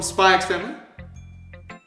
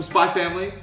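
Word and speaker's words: Spy × Family: Is Yuri secretly the high school version of Yor from Spy X Family? Or Spy Family, for anyone who's going to get upset at the fact I pronounce the X.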